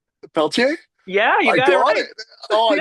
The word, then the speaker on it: Pelletier: And now, I don't want to say your name wrong because I know it's French, but it's Peltier. That's it. Peltier.